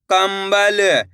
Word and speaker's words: कंबल: कम ब ल, तो मिलके बन जाएगा कंबल। इस शब्द के अंदर भी अपन ने आधा माँ का उच्चारण करा है। कैसे? कंबल।